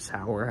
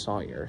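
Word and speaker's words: Sauer: 6our Sawyer it's pronounced Sawyer I I've always pronounced it sour out of habit but it's actually pronounced Sawyer Sig Sawyer and um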